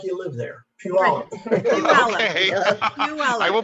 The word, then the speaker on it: Puyallup: Remember, Robin, it's Puyallup. Say it like you live there. Puyallup.